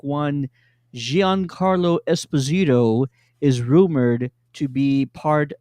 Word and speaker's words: Esposito: matter you say well when we interviewed giancarlo esposito sorry i said it wrong the first time esposito he actually dropped the bomb on everybody that